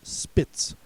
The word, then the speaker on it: Spitz: The first TZ word is Spitz, also pronounced Spitz.